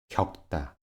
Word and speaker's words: 겪다: 'ㄱ, ㅋ, ㄲ' se pronuncian como 'ㄱ'. Escucha cuidadosamente. ‘꼭 – 부엌 – 겪다’ A continuación, 'ㄷ, ㅅ, ㅈ, ㅊ, ㅌ, ㅎ, ㅆ' se pronuncian como 'ㄷ'.